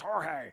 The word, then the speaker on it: Jorge: it's pronounced Jorge.